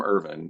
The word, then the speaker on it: Irvin: I'm IV iin but they're pronounced exactly the same so when I said my name is irvan he went oh are